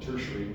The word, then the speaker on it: tertiary: And then we have the third area, which we call tertiary. Dietary is what it looks like, but tertiary is how you pronounce it.